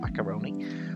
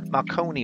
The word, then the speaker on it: Marconi: can't say it like I was gonna say macaroni it's not macaroni Marconi room basically where the